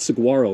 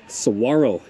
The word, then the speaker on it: saguaro: Saguaro again it's not Saguaro it's Saguaro cactus the g is silent but yeah this is